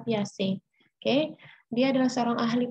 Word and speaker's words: Piaget: yang berkebangsaan Swiss ini namanya tulisannya Piaget tapi bukan Piaget ya dibacanya sekali lagi Bacanya adalah piace Oke Dia adalah seorang